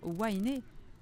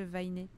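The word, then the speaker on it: Waineʻe: Les consonnes sont prononcées de la même manière qu'en anglais, à l'exception du W, qui est souvent prononcé V au milieu d'un mot ou s'il vient après le E ou le Y. Donc ça devrait bien être Wainé. Ok, il est souvent prononcé V si il est au milieu ou devant blabla, ce qui n'est pas le cas de Vainé. Donc ça devrait être Wainé.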